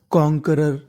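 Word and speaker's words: conqueror: CON कॉन। QUE इसे का पढ़ना है? ROR रर। कॉन्करर। कॉन्करर। कॉन्करर का मतलब होता है विजेता।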